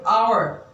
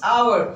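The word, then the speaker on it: hour: आपने देखा होगा कि आवर इट्स आवर हम एच साउंड को साइलेंट करते हैं यहाँ पर तो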